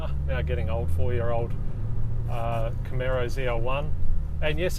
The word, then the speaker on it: Camaro: in the States and it actually deliberately is supposed to sound like an arrow so it really should be pronounced Camaro and yeah it's a